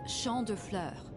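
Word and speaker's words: Champs de Fleurs: just like I imagined Champs de floors how do you say that it's Shand FL it means field of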